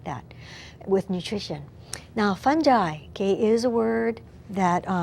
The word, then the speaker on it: fungi: have singular fungus and plural fungi sometimes British people will call it funghi okay that's just a different pronunciation but it means the same thing these include the molds